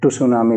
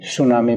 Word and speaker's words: tsunami: देखते हैं सुनामी और सुनामी में टी चुप रहता है साइलेंट कुछ लोग इसको टू सुनामी पढ़ देते हैं वो गलत है ये सुनामी प्रोनंसिएशन है और सुनामी शब्द की